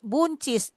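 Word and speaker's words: boontjes: eh bounches jadi bunchis tulisnya begini bounches bnches tapi dibacanya bunchis ya apalagi sesnya agak mirip bonchisnya bonchis kita kan sayur iya iya tapi kan tulisannya lain boun chees tapi di sana kan bunchis pakai u gitu oke apa lagi dari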